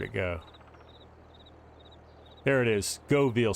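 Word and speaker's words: Göweil: There it is, Govil. So the W is pronounced like a V, as you would in German.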